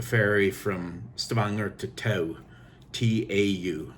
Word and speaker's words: Tau: T-A-U, it's pronounced Tau.